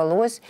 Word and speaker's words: лось: сразу хочу сказать что в русском языке при склонение существительного лось всегда ударение ставится на первый слог это на всякий случай просто для наших слушателей которые вдруг будут говорить что на 2 нет только на 1 во множественном числе слова